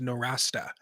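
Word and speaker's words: Nowrasteh: institute yeah right or or even the proper pronunciation of his last name is no rasta norasta okay thank you because well it's like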